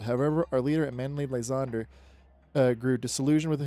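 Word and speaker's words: Lysandre: Lzand but it's not it's Lzander. Lzandre. It's then it's not Dur. It's Dre. D R E. So it's Lzander. So that's what I heard in the anime. So that's what I I pronounce. Well, that's I've been saying it Landre because I've been trying to speak French, but it's Lzander. I don't know.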